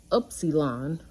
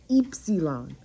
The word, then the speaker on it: epsilon: yeah there's that and it's not upsilon it's eepsilon like oh and then